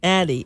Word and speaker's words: Addyi: It's spelled ADDYI. What? ADDYI. Addy. With a Y-I? No Yes. kidding. Addie.